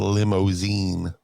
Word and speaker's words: Limozeen: But they had the cartoon had a fictional hair metal band called Limousine. And it was spelled like Limozeen.